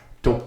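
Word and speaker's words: tocayo: primarily by Mexican Spanish speakers today's word is too too how do you spell that t o c a yo okay too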